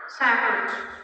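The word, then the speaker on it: sandwich: ال D silent. بقول ساندويتش ولا ساندويتش؟ ساندويتش.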